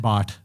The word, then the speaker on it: Bath: His last name is what is it? Bot, but it's spelled BATH.